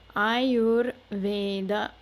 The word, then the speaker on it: आयुर्वेद: the r and so when we put this whole word together ayurveda a little easier to pronounce that way rather than i yous notice that these two